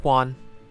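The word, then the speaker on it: Juan: js and h but in the name yuan it's sort of uh treated silence leaving you on which is basically said one yeah i'm not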